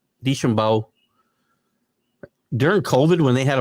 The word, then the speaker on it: DeChambeau: Remember during Deschambeau, how do you say his name? DeChambeau.